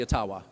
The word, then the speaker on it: Ottawa: and he goes yeah all the whites are wrong it's actually aawa yeah well learn something new there go aawa anyway it doesn't matter